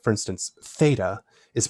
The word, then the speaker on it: Theta: nowadays like for instance Theta is pronounced a single sound but classically it was literally a t and an h a t a breathy T sound so it's something bear